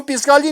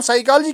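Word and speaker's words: psychology: हम पिस्कालजी नहीं कहते, हम साइकालजी कहते हैं।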